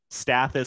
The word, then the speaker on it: Stathis: And I wrote it down here because I couldn't even remember how to spell it, but it's Stathis, so Stathis, and then Sumalidis, Soumelidis.